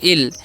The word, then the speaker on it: ill: यहां पर सबसे पहले आई डबल एल तो इसे हम लोग क्या पढ़ते हैं इसे हम लोग पढ़ते हैं इल और इल मतलब क्या